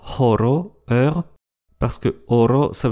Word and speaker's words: horo: Le H est expiré comme en allemand ou en anglais, et sa prononciation n'est pas facultative. H, comme dans horo, heure, parce que horo, ça veut dire or.